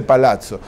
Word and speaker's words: palazzo: Palacio no nuestro época en italiano se dice palazzo palazzo Dey diamanti de